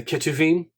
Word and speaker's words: Ketuvim: then you have the the ch or really pronounced like a k uh the ketuvim uh which represents the